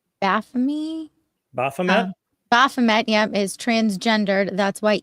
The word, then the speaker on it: Baphomet: I'm going to pronounce this wrong. Baphomet? Baphomet? Baphomet, yep, is transgendered.